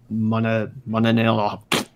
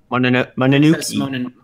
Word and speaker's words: Mononoke: It does, but Shutter said Princess Mononella. I can't pronounce that. Mononoke.